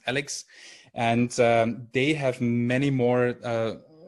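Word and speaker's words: a11y.css: project on github called alex so ali.css but pronounced alex and they have many more selectors and tests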